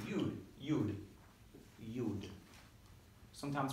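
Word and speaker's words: יוד: So when I say Yud, you're going to go yeah. Hold up your hand. You hold up your Yuds. Yeah, your Yud. Or this is actually, they pronounce it as a Yad.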